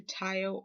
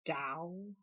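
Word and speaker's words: Tao: good good while which i used to call it the tile oracle and i didn't know i was pronouncing it incorrectly it's called the dao oracle i believe and so yes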